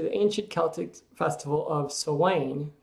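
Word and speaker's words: Samhain: date back to the ancient celtic festival of sawain pronounced sewing the kel 2 lived 2 000 years ago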